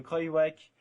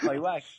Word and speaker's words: Kruijswijk: Si Kruijswijk, Gesink et Tendam... Répète-moi ça. Kruijswijk.